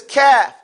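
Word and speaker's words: كاف: So he says kaf. Everybody can say that. Kaf. Say it. Kafun, the crazy. Say crazy. Crazy. See, that's, as you say that word crazy, you're pronouncing kaf properly.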